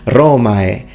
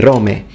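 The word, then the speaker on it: Romae: very correct in fact he says roma he uses the full diptong romai he doesn't say rome but in this part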